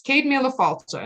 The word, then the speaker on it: Céad Míle Fáilte: Nobody knows how to pronounce it. It's Céad Míle Fáilte, and it means 100,000 welcomes, literally.